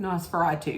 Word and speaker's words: Nosferatu: felt like maybe could have won was um NOS veratu am I pronouncing that correct Nosferatu yeah um but the substance wins for um